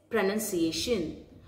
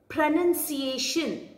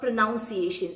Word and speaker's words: pronunciation: the first word which is being mispronounced itself is pronunciation many people make this mistake so the correct way to say this word is pronunciation pronunciation not pronunciation or pronunciation it is pronunciation pronunciation very good the second